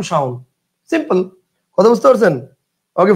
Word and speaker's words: শাওন: বানান আমি লেখক মুঝে এমনে খুশি এমনে কিন্তু উচ্চারণ শাওন সিম্পল কথা বুঝতে পারছেন ওকে ফাইন আচ্ছা এবার